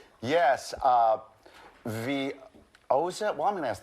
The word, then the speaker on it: Veozah: Veozah. Veozah. Veozah.